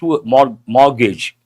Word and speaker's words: mortgage: and the very first mortgage. Yes. Who is this? Wangutesh. I appreciate usually people mispronounce people say mortgage. T is silent not gauge.